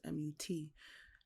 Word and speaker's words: Mut: And then you had the mother goddess, which is Mut or Mut. I'm not sure how other people pronounce it, but it's Mut, and you know she's the goddess like of motherhood.